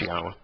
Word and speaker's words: Yahweh: You know how I came to to know that Yod-Heh-Wah-Heh was pronounced Yahweh?